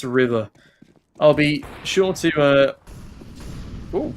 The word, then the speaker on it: RVR: No idea how to pronounce Unique, but I've been informed that RVR is pronounced River.